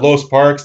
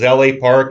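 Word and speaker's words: L.A. Park: scheduled a no dq matchup against lo uh los parks this is la park and sorry again with my pronunciation hugo de la park la park yeah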